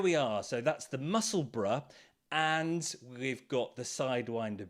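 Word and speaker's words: Musselburgh: a funny one uh it's spelled kind of like muscle Burr b-u-r-g-h but of course the way we speak here is Bruh Bruh the muscle bruh a wonderful pattern new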